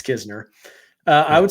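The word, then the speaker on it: Knizner: But um yeah uh I would say that Kizner, which is how you pronounce it, by the way. It you pronounce the K but not the N.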